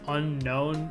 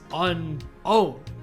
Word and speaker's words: Unown: People seem to think this creature's name is pronounced Unknown because it's supposed to be mysterious and it's the canon pronunciation in the anime or whatever, but if you look at its name, that's not the case at all. It's unowned. It's the only Pokemon that cannot be owned by another entity.